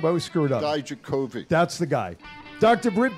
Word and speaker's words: Dijakovic: Today, Tony Atlas, Terry Gordy, John Cena, Dominic, how do you pronounce his last name? I always screw it up. Dijakovic.